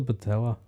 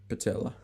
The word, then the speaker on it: patella: What's a patella? Kneecap. Is it? Cap of knee, patella. Patella. Rhymes with Nutella.